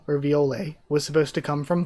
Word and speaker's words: Viole: We know that the name Viole, or Viole, was supposed to come from Violet. It's just the, like, sort of more French pronunciation where the T is silent.